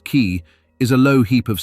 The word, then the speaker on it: cay: A cay, pronounced key, is a low heap of sand and coral barely above the tide, the basic building block of the whole chain.